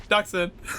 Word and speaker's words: Dxun: DXUN, how do you pronounce that? Duxon.